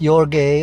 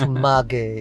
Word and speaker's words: Maguey: It's not your gay or our gay, it's Maguey.